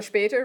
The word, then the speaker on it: später: So später rhymes with later. Yeah? Später, gator. Okay. So später, later. They rhyme, so that'll help you. A lot of people try it like say bis später. Okay, bis später. It's a long A sound.